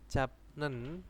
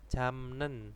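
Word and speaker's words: 잡념: Contohnya di sini ada japnen, bacanya apa? Jamnen ya. Nah, ini kalau baca seperti ini japnen itu kan keserimpet ya lidahnya. Nah, akhirnya menjadi jamnen.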